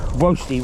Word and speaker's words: Woasty: And toasty, Woasty rhymes with toasty, you see.